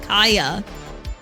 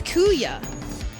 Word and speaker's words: Kuya: Oh, so I have been pronouncing your name wrong this entire time. I've known you for so long and I've always thought that was pronounced Kaya. So it's Kuya.